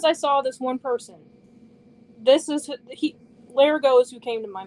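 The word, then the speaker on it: Lerigot: I know it's Larigo, but that's not how it's spelled.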